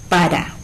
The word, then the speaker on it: lámpara: En la palabra maestra, ¿sí?, tenemos por un lado ma, luego es y después tra, ¿sí? Donde ¿cuál es la sílaba tónica?